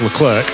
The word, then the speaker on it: Leclerc: He says, you can call him Charles Leclerc, which is how you say it in French, or you can call him Charles Leclerc, which is the English pronunciation.